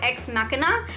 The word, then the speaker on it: Ex Machina: Another movie that I've actually talked about before, and I pronounced it wrong when I talked about it before, it's called Ex Machina, and this one I also watched on my 31 Days of Horror.